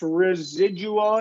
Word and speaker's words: residual: then in number six residual it's going to be a z sound for the S okay res res residual